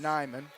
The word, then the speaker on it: Neiman: As we'll wrestle at 175, Xavier Palacios wrestling Parker Neiman. I believe they could pronounce it Nyman.